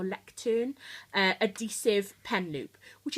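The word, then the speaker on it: Leuchtturm: Um oh yes, the final thing I've got in the back is a um I think it's pronounced lectern or lectern uh adhesive pen loop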